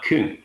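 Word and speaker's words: cwm: from welsh and this is the case with kun which means valley and pronounced like kun as well as proof which is a stringed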